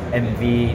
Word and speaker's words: Emmevi: MV austa when they started producing the first MV 98 uh cc bike so 8 years ago